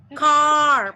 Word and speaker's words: carp: Ini bacanya adalah Carp. Carp. Bacanya A panjang. A. Dia tidak hanya panjang tetapi lebih dalam.